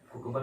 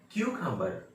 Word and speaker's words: cucumber: बहुत सारे बच्चे भी बोलते हैं कुकुम्बर कहते हैं, जो खीरा है ना उसका वो वर्ड है कुकुम्बर, मतलब खीरा। तो ये कुकुम्बर नहीं है, ये है क्यूकम्बर, क्यूकम्बर।